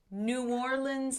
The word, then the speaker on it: New Orleans: let's hear it because this is how it's pronounced new orleans saints uh joseph over